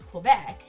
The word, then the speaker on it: Quebec: Isn't Quebec's, Quebec? Yeah, I mean, I suppose so. I mean, I think the Canadian pronunciation is Quebec, but most people with a French accent, a French-Canadian accent, would say Quebec.